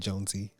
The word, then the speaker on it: Jonesii: jonesy that's j-o-n-e-s-i-i-i no y-i-i pronounce that jonesy and then you can